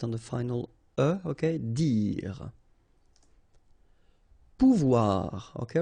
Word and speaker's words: pouvoir: Remember, when you combine this O and U, you get the sound OU, okay? And when you combine this O and I here, you get the sound OUA, okay? So, pouvoir, pouvoir. Aller, okay?